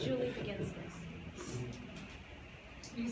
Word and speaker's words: Baginskis: I just have your name for It's Julie begins this. Can you spell that?